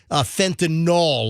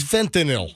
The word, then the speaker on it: fentanyl: It's one of my peeves when people say fentanyl, like Tylenol. Well, I don't like it when you say, I went diving in Cayman. It's fentanyl. That's how you say it.